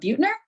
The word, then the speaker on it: Buettner: Buettner. That's how he pronounced it on my Audible.